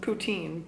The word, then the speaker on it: poutine: poutin ptin ptin okay I've heard it's been pronounced poutine by Canadian friends but maybe I'm wrong